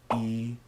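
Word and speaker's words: 一: In Chinese, when reading a number, like a phone number or a room number, the pronunciation for the number 1 changes from yi to yao. Yi sounds very similar to the number 7, qi.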